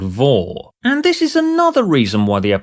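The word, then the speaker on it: vore: in case you're unaware, Vor, as in V-O-R-E, but pronounced the same as the company, is a sexual fetish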